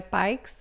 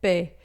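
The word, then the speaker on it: paix: Pé, a gente não vai falar o X final e a gente vai dizer pé, não é pikes, mas é pé.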